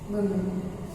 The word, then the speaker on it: women: Woman, women. What is the difference between this word and this word? This woman is pronounced, this is singular firstly.